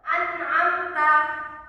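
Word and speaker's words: أنعمت: Izar syafawi ini ee ketika ada huruf hukum huruf mim mati bertemu dengan huruf hijaiyah selain huruf ba dan mim contohnya itu an'amta ini dibaca satu ketukan dan dibacanya jelas ya Coba diulangi santri-santri anamta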